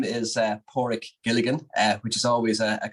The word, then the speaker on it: Padraic: But it's Padraic. I always say a dog's paw and a rickshaw, so Padraic is the best way to say it.